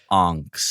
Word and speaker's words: Angst: Ryan, boy, it's pronounced Angst. Angst. Sorry. Angst. And what as a German title too, right?